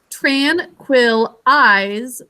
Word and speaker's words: tranquilize: their muscles tranquilize so tran quill eyes last syllable is going to be i z silent finally job one please